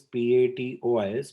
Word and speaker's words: patois: So Prithvish is saying patois and jargon. This word, the spelling is Patois, but the pronunciation is drastically different.